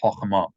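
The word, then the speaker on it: חכמה: By the way, you guys, if you see a kamatz before a shava, usually that's going to mean that the shava is sounded. So if you're aiming for precise pronunciation, you could read this as chachma instead of chachma, chachma. It's a subtle difference, but don't drive yourselves crazy.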